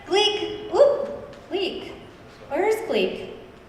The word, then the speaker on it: Gleek: Rhymes with geek. Gleek, that's right. Gleek, whoop, Gleek.